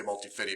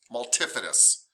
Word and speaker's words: multifidus: say it wrong too i say multi-fitty but it's multifidus and the other one